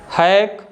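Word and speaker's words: hack: कोई आवाज़ ही नहीं बना रहा है, सी साइलेंट है। नेक्स्ट वन है स्नैक, हैक, हैक में भी जो लेटर सी है ना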